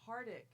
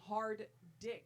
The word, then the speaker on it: Hardick: It's Hardick. You guys are saying hard dick. 'Cause which that's is what it's spelled. No, but then it would be HARDDICK, but it's HARDICK, so it's Hardick.